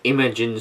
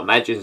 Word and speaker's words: Imagine: a wec le mans by imogen software or imagine software to pronounce it correctly didn't come out on